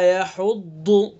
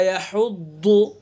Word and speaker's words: يحض: اور دیکھیے ضاد کا صحیح تلفظ، کیا مخرج پڑا آپ نے ضاد کا؟ زبان کی کروٹ اور اوپر کی ڈاڑوں کی جڑ، اور پر کر کے پڑھیں گے.